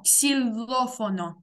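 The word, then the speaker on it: xilófono: І тут ось це наголос на О. Ксіло. Ой. Ксіло. Сильно. Сильно. Сильофоно. Сильофон. Тільки не роби м'якенький л. Там о. Ксилофоно.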